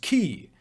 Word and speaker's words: quay: I usually prefer the British pronunciation, but sometimes I think, like, for instance, the word quay, which is properly pronounced key, which I am fully aware of.